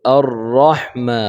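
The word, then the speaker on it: الرَّحْمَٰنِ: হয়ে যায় ঠিক আছে তারপর আর রহমা রহমা যেন না হয় এই হা টাকে আমরা চিকন করে পড়বো ইনশাআল্লাহ আর রহমানির রাহিম হা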